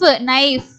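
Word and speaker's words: knife: அடுத்தது நை இன்னு ஐ நை இஃப் நைஃப். இங்க இ வந்து சைலண்ட், எஃபோட முடிஞ்சிருது. நைஃப். இங்க எல்லாமே கே வந்து சைலண்ட்.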